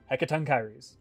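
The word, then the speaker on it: Hecatoncheires: grecian friend of theirs who could explain how to say heckaton kyries but that is that is how you say that word hecaton kyries fearsome creatures who were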